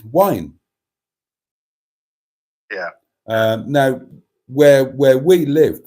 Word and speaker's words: Waun: I mean, WAUN is wine.